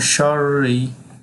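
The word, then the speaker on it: شَرِّ: যেহেতু রয়ের উপরে তাসদিদ আছে, সেক্ষেত্রে এখানে রকে দুইবার উচ্চারণ করতে হবে। তাহলে এইটুকু আমি পড়তেছি। মিং শাররি, মিম আলিফ জবর মা, জবরের বাম পাশে খালি আলিফ, মধ্যে তবাই।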